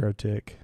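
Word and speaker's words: MikroTik: The known devices affected by VPN filter are Linksys, Mercotic, Netgear. MicroTik. Is that how you pronounce that? Yeah. Micro with a K.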